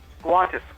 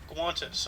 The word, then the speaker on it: guantes: You know how you pronounce gloves in Spanish? Gloves? Yeah, gloves. I don't know. Guantes. Guantes.